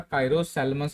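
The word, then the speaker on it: Chiropsalmus: तो इसका एग्जाम्पल क्या हो जाएगा, कायरो सैल्मस हो जाएगा, पी साइलेंट है यहाँ पे, ये आपको याद रखना है।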